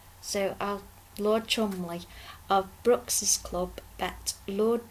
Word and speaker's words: Cholmondeley: Biggin for company, now, it's spelt Cholmondeley, but I've heard that it's pronounced Chumley. So Lord Chumley of Brooks's Club bet